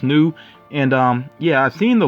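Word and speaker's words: Snoo: this character here i guess the name is pronounced new and yeah i've seen the logo before of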